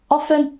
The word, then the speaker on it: often: I personally I say often by pronouncing with the T. One is not more correct or incorrect than the other.